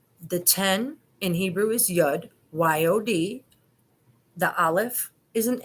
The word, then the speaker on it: Yud: The 10 in Hebrew is Yud, Y-O-D. The Aleph is an A. It's A. It's silent, it's dormant, so it depends on what you put it next to. So it's Yoda, Yuda.